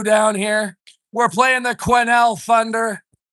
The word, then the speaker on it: Quesnel: We're playing the Quesnel Thunder. It's spelt Quesnel. It's pronounced Quesnel.